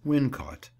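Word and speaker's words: Wilmcote: taming of the shrew as wynn caught the name is locally pronounced in that way as it would be when we consider the difficulty in ordinary rustic speech of twisting the tongue around wilmcut but reasons are given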